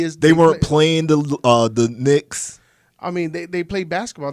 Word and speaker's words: Knicks: The reason that the Knicks came up, because like you said, the K in it is silent.